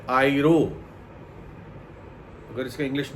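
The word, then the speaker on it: αἴρω: ये जो उठा ले जाना शब्द यूनानी में उपयोग किया गया है, वो शब्द है आइरो। अगर इसका इंग्लिश में स्पेलिंग कोई कहे तो AIRO, आइरो।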